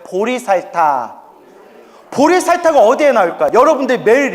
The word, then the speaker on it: 보리살타: 보디사트바 깨달음의 길을는 중생 보디사트바 한자로 표기하면 보리살타 불러요 발음을 따서 따라해 보세요 보리살타 보리살타 어디에 나올까요 여러분들이